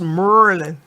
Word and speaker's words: Maryland: area by the way it's pronounced Merlin I'm not even paying